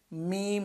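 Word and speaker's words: م: মিম, দুই ঠোঁট, দুই ঠোঁটের ভিজা জায়গা, শুকনা জায়গা। বা আমরা উচ্চারণ করেছিলাম ভিজা জায়গা থেকে, এবার মিম উচ্চারণ করবো শুকনা জায়গা থেকে।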